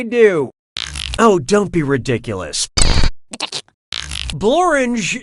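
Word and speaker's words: Blorenge: oh don't be ridiculous borange is a real place and it really rhymes with orange but if you visit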